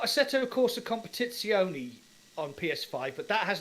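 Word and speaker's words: Competizione: has no VR mode that's not a real word that's actually the correct pronunciation I got pulled up in my review by an Italian guy and who's just said English people in Italian and it's like a set of course a competitioni there you go yeah so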